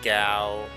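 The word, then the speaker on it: Gau: I spent years mispronouncing names in this game. Narshe is Narshe, Celis is Seals, Ga is Gao over Ga.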